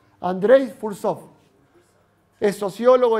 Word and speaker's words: Fursov: escribe Andre andrey fsop F u con acento en la u r s o andr fursov es sociólogo y historiador